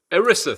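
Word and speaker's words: ERISA: by this uh I I know I said it wrong. Irisa, thank you. Thank you. It doesn't it doesn't spell that way to my thinking, but E R I SA, which is uh the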